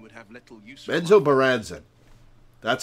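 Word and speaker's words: Menzoberranzan: Even the houses of Menzo Baranzin would have little use for Menzo Baranzin. That's how you pronounce it.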